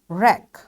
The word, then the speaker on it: wreck: So all these words are written with W but it's this W is silent over here. Why? Because all the W's are followed by R. You got the rule. Whenever W is followed by R, this W will be a silent letter in that word.